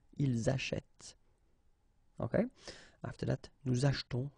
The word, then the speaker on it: achetons: After that, nous achetons, vous achetez. Remember this here is silent or mute.